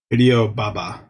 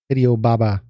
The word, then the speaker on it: Hideo Baba: Hideo Baba. Hideo Baba.